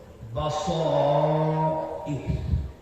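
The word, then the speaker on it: بصائر: শব্দটি হল বাসাইর। আরবি উচ্চারণে বাসাইরু। আমরা রয়ের উপরে পেশ না পড়ে সাকিন করে দেই, তাহলে উচ্চারণ হবে বাসাইর।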